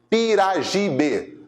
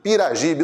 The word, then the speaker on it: Piragibe: Piragibe. Piragibe, não importa se você vai escrever com J ou com G, a pronúncia é essa.